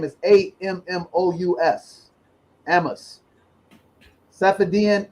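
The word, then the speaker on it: Ammous: is uh emma's his last name is a-m-m-o-u-s amos sappadian ammos the bitcoin standard and you should get this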